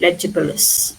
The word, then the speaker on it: legible: The J uh G is not a hard G when you pronounce. Okay. So, it's leable. Tangible.